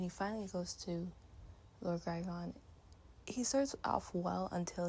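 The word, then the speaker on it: Grigon: say his name wrong, Lord Girion. Give me 1 second. I'm going to make sure I say his name correctly. Let me see, Lord Grygon, that's his name, Grygon.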